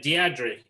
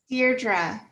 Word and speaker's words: Deirdre: move on to uh deandre am i pronouncing your name right no okay please correct me deirdre like dear jeff yeah all right welcome